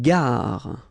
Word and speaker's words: gare: Une gare. Okay, remember when you get these G and A together, the sound is g, ga, ga. Une gare. Final not pronounced.